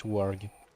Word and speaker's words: Warg: Oh, it's actually pronounced Warg here. I'd assume it's pronounced Warg because English has, for some reason, the habit of pronouncing A with a O sound. But no, it's Warg.